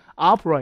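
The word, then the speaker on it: opera: 예를 들어 오페라지만 이게 실제 발음은 아프라 이렇게 강세가 앞에 있어요.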